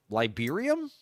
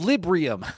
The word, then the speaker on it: Librium: type drug, or B, it is something called Liberium, I think.